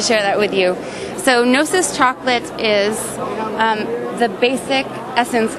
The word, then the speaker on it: Gnosis: Gnosis Chocolate.